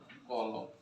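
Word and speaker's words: column: रीढ़ की हड्डी, या इसकी बोलते हैं मेरुदंड, या इसी को बोलते हैं कॉलम। कॉलम तक लास्ट में एन जोड़ दिया जाए, एन यहाँ पर साइलेंट रहता है।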